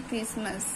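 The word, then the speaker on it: Christmas: एच क्या silent है ऐसे क्रिसमस में भी हमारा क्या है साइलेंट है हमारा ए क्रिसमस ट्री क्रिसमस इसमें हमारा क्या एच साइलेंट होता है ऐसे ही व्ट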